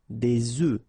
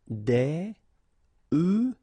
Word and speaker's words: œufs: if you listen carefully, the pronunciation is changing quite much, because for the singular form it's œuf, but then for the plural form here it's okay? Des œufs. Des œufs, des œufs.